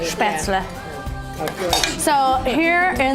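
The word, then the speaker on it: Spätzle: how you say it, Spaetzle. Of course. So here in the United States, we say Spaetzle Right.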